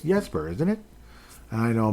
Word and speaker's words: Jesper: He's been saying Jesper, but it's Yesper, isn't it? And I know Marco Rossi and I it's pronounced Rosi.